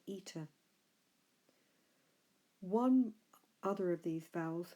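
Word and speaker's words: ἦτα: if another e and this is a long e in English if I write a line over it we would pronounce at that as air its capital actually looks like the English letter H so that is air we called that letter eater one other of these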